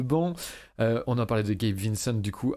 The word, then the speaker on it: Gabe Vincent: Gabi Vincent, je ne sais pas comment on le prononce. Gabe, merci. Vincent. Gabe Vincent.